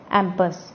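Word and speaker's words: impasse: Paper के एंड में, इम्पास also pronounced as एम्पस। अब इसको हम एम्पस भी बोल सकते हैं।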